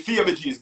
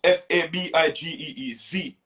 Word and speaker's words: Fabigeez: But it's really Fabagees, but it's however you pronounce it, however you can. Baby, like Fabian, yes, got you. You know what I mean? But it's Fabigeez, you know what I mean?